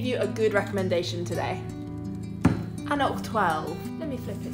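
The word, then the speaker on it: anCnoc: And by the way, yes, it is pronounced Annock.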